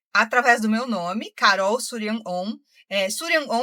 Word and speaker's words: Shuryan Om: do meu nome Carol surian on eh surian on é o nome de uma mentora minha uma mentora siriana eu sei que que se fala de uma maneira diferente e se escreve mais ainda então eu vou soletrar